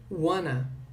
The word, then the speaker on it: wanna: Na pronúncia, esse want to, que eu falei que ia ter mais uma redução, ele vai ser pronunciado como wanna, ok? Ele foi reduzido ao longo do tempo pelos americanos e eles falam wanna, ok?